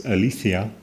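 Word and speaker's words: ἀλήθεια: Martin Haidiger thinking about the question of truth typically appeals to the Greek term that my Greek friends pronounce althia as potentially providing access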